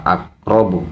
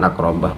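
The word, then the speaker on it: أقربَ: Bacaan yang ketiga justru lagi-lagi masih tetap saja dia membacanya sebagai rofa, akrobu, bukan akrobah.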